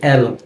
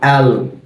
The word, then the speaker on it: L: এরপরে এটাকে আমরা বলি এল, তবে এর উচ্চারণটা হবে অ্যাল। অ্যাল, অর্থাৎ এটা যখন আমরা উচ্চারণ করব, আমাদের জিহ্বার আগাটা উপরের তালুর সাথে লেগে যাবে।